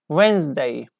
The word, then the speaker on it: Wednesday: Like perhaps silent D is most commonly found in the world, like Wednesday. Wednesday we don't say. Wednesday. Wednesday. Okay. So Wednesday, we have D there and we don't pronounce it.